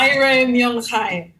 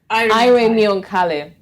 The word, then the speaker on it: Airemionkhale: Airemionkhale. Airemionkhale. Now that's how to pronounce it.